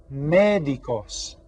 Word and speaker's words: médicos: in español son los médicos los médicos and you see the accent right here that tells us we stress this syllable los médicos repeatin todos